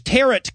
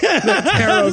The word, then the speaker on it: tarot: goes uh witches use tarret cards carrot which rhymes with carrot not a lot of people yes tarot cards rhymed with carrot cards yeah no and he's